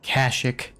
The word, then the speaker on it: Kashyyyk: I personally pronounce it Kashyyyk.